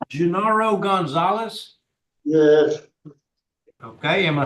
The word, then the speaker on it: Genaro: Yes, he's pronounced Genaro.